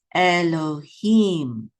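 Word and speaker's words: אֱלֹהִים: That dot up top is a cholem. This is lo. So this is lo. And then we have a hey with a chirik, yud. Together is he. And this is a mem sofit. So this syllable right here is him. So this is Elohim.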